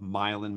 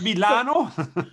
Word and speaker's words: Milan: of the things people need to know about milan is how the same island right it's not milano it is not milano but but milan it is um we are